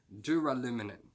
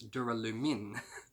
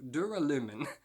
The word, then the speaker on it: duralumin: just want tough entrepreneurs so it is dewar aluminium sorry no it's not it's duralumin do duralumin okay so duralumin is the new metal